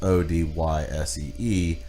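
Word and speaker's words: Odysee: And it's not pronounced like the ancient literature piece by Homer, but it's Odyssee.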